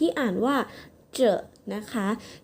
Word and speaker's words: 着: คะ สำหรับ วิธี การ อ่าน ที่ อ่าน ว่า เจอะ นะ คะ ที นี้ เรา ลอง มา ดู